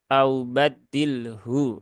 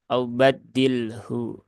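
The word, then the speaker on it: أو بدّله: Nah di sini Ee lagi-lagi kita bertemu pada pertemuan dua huruf sukun ketika waakaf yaitu lam dan huruf Ha Di mana lam dia ada di alisan sedangkan ha itu ada di alhalq ya di tenggorokan lam ada di ee lidah begitu kan Nah maka ini dipastikan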